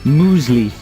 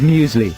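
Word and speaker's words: muesli: people how about uh Mo moley instead of musley yeah moley is that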